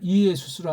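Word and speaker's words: Ἰησοῦς: 직역한다고 할 때 그걸 이에수스로 하는 건 어불성설이에요. 일단은 그렇게 출발은 하지만 한 번에 바꾸면 누가 또 꿍꿍거리는 사람이 있으니까 왜 네 성경은 예수가 없냐? 이걸 발음하더라도 이에수스가 정확한 발음이에요. 이에수스. 이에수스 성경 있냐고요.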